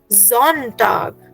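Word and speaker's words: Sonntag: so Sunday will again have a जी सो it will be pronounced as जोंटग very good Puneet से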